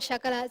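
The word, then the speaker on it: शकल: pronunciation is so important sakala means the whole world shakala means pieces so when you use this dante or sakara to pronounce this sakala this sakala it means the whole world but when you use this talaviya shakara to pronounce this shakala it means pieces so it's the opposite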